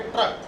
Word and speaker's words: ट्रक: उच्चारण आप करेंगे ट्रक, तो ट का उच्चारण आप आधा करेंगे और र का पूरा।